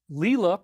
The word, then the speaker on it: Leela: Her name is Leela, pronounced Leel-A.